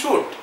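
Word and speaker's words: suit: ভুল করে সুইট বলে কিন্তু একচুয়াল নাম হচ্ছে সুট আর তুমি ভুলটাই মাথায় রাখলে স্যার ওটা প্রোনাউন্সিয়েশন হয়ে যাবে না সুট বলবে সুট এস ইউ আই টি হলো স্পেলিং আসল নাম হলো সুট সুইট নয় সুট ঠিক আছে আচ্ছা এবার এক একটা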